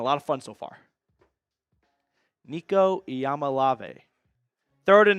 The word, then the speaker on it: Nico Iamaleava: I learned how to pronounce my own quarterback's name. Nico Iamaleava, first round pick 2026 train.